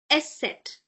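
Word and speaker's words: Eszett: is set this one set you break it like s set S set.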